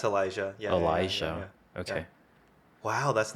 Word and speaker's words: Elijah: how to pronounce this Elia Elijah Elijah do you pronounce a j yeah it's Elijah yeah Elijah okay wow